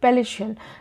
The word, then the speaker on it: palatial: पलेशल, पैलेशियल, PALATIAL, पैलेशियल। पैलेशियल भी एक adjective है और प्रोनाउंसिएशन पे ध्यान दीजिएगा।